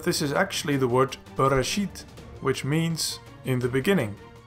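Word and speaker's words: בְּרֵאשִׁית: video, you might think that this word is pronounced as brshit. But in this video I will show you what all of these little dots mean, so that you will know that this is actually the word brshit, which means in the beginning.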